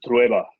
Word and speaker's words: Trueba: Because I'm always like Mario Trueba, and I'm like, no, it's not Trueba, it's Trueba. And Mario no, it's Trueba.